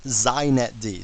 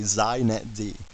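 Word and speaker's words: xinetd: a couple things first it's pronounced zet D so if you want to be hip you say zet D okay and secondly it's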